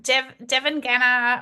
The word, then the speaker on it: Devangana: Uh, Devon Genner. Oh gosh, I just pronounced that wrong, didn't I?